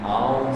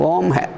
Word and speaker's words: Om: Yes, the utterance of Om has in different applications different form. Произношение Ом в разных случаях применяется по-разному произносится. So what we utter Om is combination of A, U, Ma.